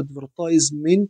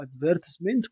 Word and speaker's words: advertisement: The nouns of the verb advertise يعني الأسماء أو الاسم من كلمة advertise are طبعا advertiser اللي رقم C أو advertisement أو advertisement كل النطقين صح اللي رقم C أو E.